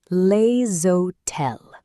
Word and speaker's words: les hôtels: Les hôtels, pronounced les hôtels.